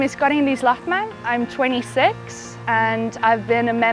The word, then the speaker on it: Karin-Liis Lahtmäe: I should probably say it in Estonian, like how I pronounce my name, really. Yeah. Yeah, okay. My name is Karin-Liis Lahtmäe.